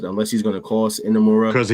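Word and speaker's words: Inamura: So, everyone from Pro Wrestling Noah gave um Unamara. Sorry. I keep saying his name wrong. Enamura. Did I say it correctly? Allstar. Yes. Enamura.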